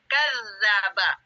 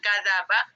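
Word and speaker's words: كذّب: tanda kayak Sir kecil ini bacanya ditahan kadzaba kadzaba bukan kadaba kadzaba ditahan dulu kadzaba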